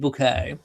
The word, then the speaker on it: Bucket: So yes, I will be being Sheridan Bouquet, Bucket, pronounced Bouquet, on Sunday, and there will be lots going on.